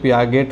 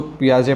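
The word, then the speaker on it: Piaget: spelling में ध्यान रखेंगे अगर हम लोग अपने इंडियन लैंग्वेज में इसको पढ़ने का प्रयास करेंगे तो यह पिया गट हो जाएगा लेकिन इसको पियाजे पढ़ा जाता है ठीक है और यह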